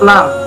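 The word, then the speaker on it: ل: 23, yaitu huruf lam. Pelafalannya la. Makhorijul huruf lam terletak pada punggung ujung lidah bertemu dengan gusi muka yang atas.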